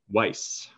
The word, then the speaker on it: Weiss: how do you say your last name weiss weiss weiss is a public speaker